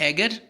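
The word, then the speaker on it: agar: उसके बाद हमारे पास एगर, एगर जो होता है या बाज़-औक़ात अगार प्रोनाउंस करते हैं, जो कि आपके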